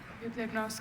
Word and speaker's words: bibliognost: Bibliognost, can I have the part of speech? Noun. Bibliognost, can I have the... Are there any alternate pronunciations? Just the one, bibliognost. It's a noun from originally Greek parts.